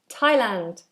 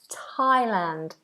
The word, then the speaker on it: Thailand: between the teeth but not with this particular word Thailand it's just a t t um teol is